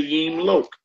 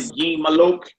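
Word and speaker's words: ימלוך: Just say Yimlok. You don't want to Yimalok. Yimlok. You're getting it done by saying that.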